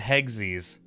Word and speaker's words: Hegzis: I'm going to go with Hegzies. I'm going It's like Hugsies but hexagons.